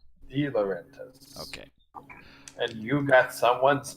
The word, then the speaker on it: De Laurentiis: Darius De Laurentiis says, FYI, it's pronounced De Laurentiis. De Laurentiis.